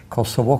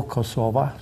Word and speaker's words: Kosovo: kind of community of Serbia, Kosovo, Kosova, to take both pronunciations, and Albania.